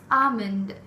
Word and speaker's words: almond: Armand and non elements the L is silent it's almond the fourth Lord is